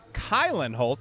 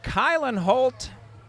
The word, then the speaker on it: Kylan Holt: said keegan holt yes kylenholt not kailyn i was pronouncing it like a guy from mukwonago kyle and holt thank you to prince